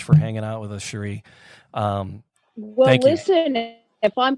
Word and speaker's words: Cherie: she was good no it's it's Sheree c h r i e not sh yeah did I say